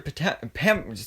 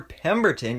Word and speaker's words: Pemberton: of star girls season one was with sylvester potent pam whoa that that yeah sylvester pemberton yeah that's how you say it uh it